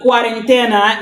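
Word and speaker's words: cuarentena: is it pronounced guarant it almost sound like quarantine for For real, right? Oh, cuz I thought it was 40 quarentine. Okay. What happens during the quarantina is that the parent stays home and they rest.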